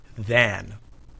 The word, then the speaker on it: than: When we say the word than by itself, we pronounce it than. But when we use than in a sentence, it's usually unstressed and the vowel is reduced to a. You almost don't hear the vowel at all.